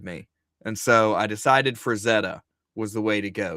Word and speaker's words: Frazetta: Nice Franzetta poster, he said. Frazetta, yeah.